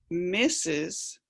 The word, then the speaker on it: Mrs: their husband's name and it's pronounced misses but it's actually meaning mistress and then miss is